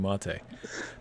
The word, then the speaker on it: MATE: no, I mean mate Yep. is not ridiculous. It's 2 syllables.